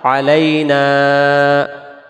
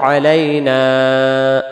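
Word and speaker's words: علينا: তৃতীয় নাম্বার আসসালামু আলাইনা এই যে নুন অক্ষরটা এক আলিফ আর আমরা তাড়াহুড়া করে যদি বলি আসসালামু আলাইনা না তখন এই জবরের পরে আলিফটা বাঁচাবে এই আলিফটা সহ আগে করতে হলে আসসালামু আলাইনা এক আলিফ ওয়া আলা আলিফ এই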